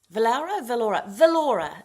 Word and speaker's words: Vilaura: Vilaura is the correct way to say it.